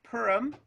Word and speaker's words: Perham: uh calvary lutheran and perham is that how you say it and let's see uh dennis so it's pronounced purim one of the things